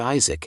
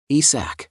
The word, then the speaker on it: ISAC: often call him Lord Isaac instead of his real name ISAC it occurred to him that this was a mispronunciation of his name and when the gods